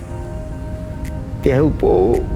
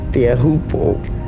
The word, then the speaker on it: Teahupo'o: Teahupo'o, that's how you pronounce Teahupo'o.